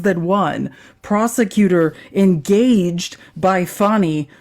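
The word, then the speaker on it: Fani: one prosecutor engaged by fonnie pronounced fonie Willis to persecute Trump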